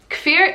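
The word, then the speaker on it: Kfir: is k-f-i-r now fear it's like seeing the k and the f together is a little bit challenging but when it is said properly fear it's so cute i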